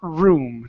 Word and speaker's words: room: So instead of saying room, pronouncing an H in front of the R in room, it's to her room.